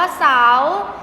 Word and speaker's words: เสาร์: นั่น เอง นะ คะ อ่าน ว่า สาว เรือ ไม่ ใช่ เรา เรือ ตัว การันต์ นะ คะ ไม่ ใช่ ตัว สะกด นะ คะ และ ก็ จะ มี สละ นะ คะ มี อะ มี พยัญชนะ มี พยัญชนะ ซื้อ สอ เสือ สระ คือ สระ เอา ตัว การันต์ นะ คะ คือ รอ เรือ การันต์ ซึ่ง คำ ว่า เสาร์ ไม่ มี ตัว สะกด นะ คะ ให้ นัก